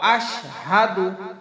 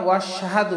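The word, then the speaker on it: أَشْهَدُ: ভুল হবে ল এখানে মোটা হবে ইল্লাল্লাহু ও আশহাদু ও আশহাদু আমরা বলব না ওশহাদু বলব না ও আলাদা হাদু আলাদা আশহাদু আনা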